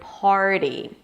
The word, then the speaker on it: party: vowel explaining the vowel the vowel in the word party is the same vowel as in the word car part and starting. Now, it's not a pure az and father cuz you don't say car. Az and father car.